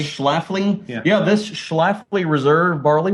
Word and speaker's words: Schlafly: Yeah, how do you pronounce that? Schlafly. Schlafly?